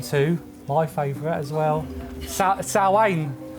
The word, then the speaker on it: Samhain: my favorite as well salwain or if you're an american samhain i know i'm sorry i always say it like that i know hen cringes